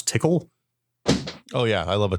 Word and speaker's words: Tcl: scriptable IRC client through TCL which I pronounce tickle oh yeah I love